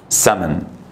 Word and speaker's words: salmon: اللي دي ما تنطقش ما تقولش سالمون يا سمن. نطقها كده سمن السالمون وانا بحب السالمون جدا.